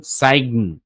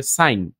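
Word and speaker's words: sign: এইভাবে আরো আছে যেমন আইজি এন এগুলা যখন একসাথে থাকবে তখন জি এর উচ্চারণ হবে না শুধু ইন এর উচ্চারণটা আসবে আই এবং এন এর যেমন সাইগন এটা কি আসছে না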